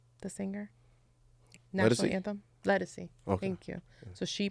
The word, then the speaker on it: Ledisi: Ledisi.